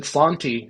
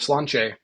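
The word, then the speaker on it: Sláinte: And then at the end, he said Slanty instead of Slanche.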